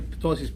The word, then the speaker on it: ptosis: Usually ptosis P, you may not read it, like it's like a little bit silent. Not everything silent, but like 2/3 silent.